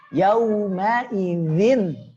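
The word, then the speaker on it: يومئذ: Yauma idzin. Nah, yauma idzin tu. Yauma idzin tu. Di sini perhatikan, di sini tipis ya.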